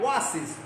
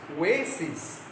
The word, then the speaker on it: oasis: The pronunciation is not oasis, it's oasis.